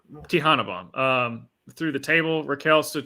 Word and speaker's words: Tejana Bomb: She caught Rhea and gave her a how do you pronounce that? It's a Tejana bomb. Tejana bomb.